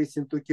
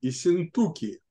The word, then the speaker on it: Ессентуки: когда, ой, извините, когда я читал Лагина, я делал ударение на «у» – «Ессентуки», потому что он Нет. потом стал «Пивораки». Нет, А, Ессентуки. но в тексте, который я читал, ударение проставлено не было, поэтому… Понятно.